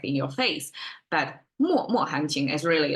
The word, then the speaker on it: 脉脉: my as well but in this expression it somehow changed the pronunciation to more more um and by the